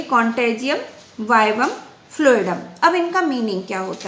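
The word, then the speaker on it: contagium vivum fluidum: और तो सिंपली इन्होंने ये कहा गया बेटा कि कॉन्टेजियम वाइवम फ्लूइडम बेटा इट इज़ a Latin word जिसको हम लोग प्रोनाउंस करेंगे कॉन्टेजियम वाइवम फ्लूइडम।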